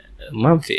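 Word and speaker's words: Maa ngi fi: Mamfi.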